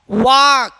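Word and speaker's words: walk: कॉम कॉफ वाक हफ पम would could. देखिए एल क्या है सब में?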